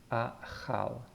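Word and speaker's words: אכל: And here is an example, achal, achal. Again, this aleph is silent, and we have that little t underneath, that's the a sound, so achal, achal.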